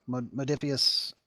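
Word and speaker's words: Modiphius: Modifius, I think is how you pronounce it, Entertainment, who has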